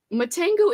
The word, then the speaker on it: Matango: Matango is a prime weird movie.